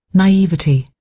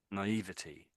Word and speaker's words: naivety: Naivety, Naivety. And the other version is naivety, oh dear, naivete. So naivete, I would say naivete. His voice sounds rather odd, but yeah, I think most people say either.